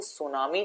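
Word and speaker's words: tsunami: बोलते ही नहीं हो जैसे सुनामी जब आप बोलते हो ना सुनामी अगर स्पेलिंग में आपसे पूछेंगे ना तो सुनामी में टी जो होता है वो साइलेंट होता है अब सोचो अगर आपको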